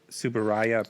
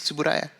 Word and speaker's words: Tsuburaya: And this is by another thing I'm going to mispronounce, Subaraya Productions. Tsuburaya, yeah.